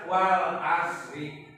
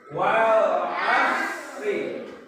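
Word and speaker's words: والعصر: Ya, jadi jangan dibaca wal asri, salah. Tapi harus wal asri. Ini huruf apa? So. Ya. Bukan sa tapi so. Maka dibacanya wal asri.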